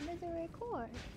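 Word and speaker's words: Misericorde: now change weapons it it says M Miser cord it says Miser cord guys thought I said it wrong but I said it right this entire time it's Mis cord yeah I said it right the entire time no oh oh my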